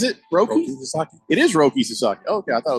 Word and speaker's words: Roki Sasaki: It is Roki Sasaki.